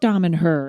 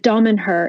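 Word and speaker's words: Damanhur: but um tell us what tell everybody about Dom and her and what you do when you go there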